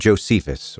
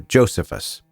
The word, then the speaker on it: Josephus: There was a Jewish historian named Josephus or Josephus, pick your pronunciation, who wrote extensively about this era and he specifically mentions this census.